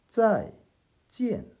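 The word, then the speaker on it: 再见: 再见 이라고 합니다. 둘 다 사성이죠. 再见.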